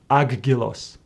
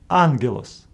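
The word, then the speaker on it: ἄγγελος: them as GG G Greeks came with a solution to pronounce the first gamma as n for example in this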